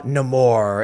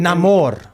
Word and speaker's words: Namor: Is that how it's pronounced now? Uh-huh. Okay, Namor. well, not for my entire life of reading Marvel comics, but whatever. I don't think I'm supposed to roll the R, but...